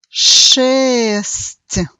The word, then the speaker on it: шесть: Então, nós temos aqui palavra шесть. De novo, nós temos no final um pouco de I inaudível, que faz mudar a pronúncia da letra T para um som um pouco mais suave.